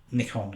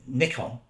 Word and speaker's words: Nikon: you dig deep then Nikon it's what you're supposed to say the original pronunciation was Nikon now Nikon sounds very close to Icon because the first cameras